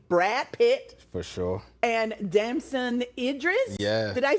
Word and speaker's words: Damson Idris: And Damson Idris, did I say it right?